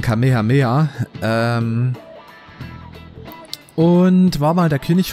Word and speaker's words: Kamehameha: Ja, der Gründer von Hawaii, beziehungsweise der heißt anders, der wird nicht so ausgesprochen wie die, wie der. Also ich meine, ich gucke kein Dragon Ball, aber das kennt selbst ich. Ich glaube, der wird ausgesprochen Kamehameha.